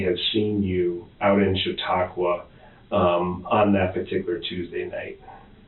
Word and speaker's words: Chautauqua: Out in that, maybe you can help me with the pronunciation. Chautauqua? Chautauqua.